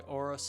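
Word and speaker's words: Aorus: with the motherboard you have the gigaby by oros Elite that's how you pronounce it b550 motherboard this one I got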